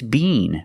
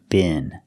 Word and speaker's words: been: If you're in England, it's bean, but if you're in America, it's bin. It's pronounced differently in America. So this word has the short I sound like this is. Bin. Example, I've never been to Paris.